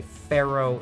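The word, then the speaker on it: faro: a different kind of shuffle it's called a pharaoh shuffle now not like the egyptian pharaohs it's spelled f-a-r-o and it comes from an old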